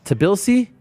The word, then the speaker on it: Tbilisi: TBILISI TBILISI.